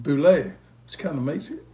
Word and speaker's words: Bule: Spelled B-U-L-E, but it's pronounced Boulet.